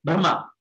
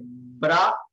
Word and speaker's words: Brahma: Ask them, don't hurriedly say Brahma. No, don't say Bra. You pronounce part 7. Don't close the mouth. Brahma. Automatically it comes.